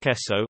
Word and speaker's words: Esso: breakup jersey standard used the trademark Esso a phonetic pronunciation of the initials s and O in the name Standard Oil as one of its